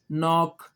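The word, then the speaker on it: knock: तो के खामोश यह देखें हो गया गौर करें के एन इकट्ठे आए के खामोश है ना निट नाइफ नॉक ऐसे ही है ना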